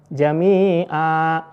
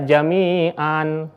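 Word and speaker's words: جميعا: mau wakaf di sini Jamia tidak boleh dibaca Jamian jadi Jamia dengan dipanjangkan selanjutnya kita lihat ada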